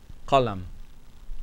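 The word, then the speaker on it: قلم: If the noun should begin with any one of those remaining letters of the alphabet, you must pronounce the lam.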